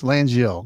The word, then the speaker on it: Langil: Langil, I don't know if I'm pronouncing that exactly right, but uh and I Yeah, it's Langil because I had to ask Langil.